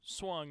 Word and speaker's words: Swung: Tim as well, and it's Swung is how you say it.